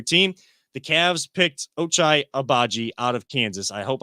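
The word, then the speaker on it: Agbaji: the cavs picked ochai abaji out of kansas i hope i'm saying that right i will make sure i get the pronunciation right i know it's obaji has his last name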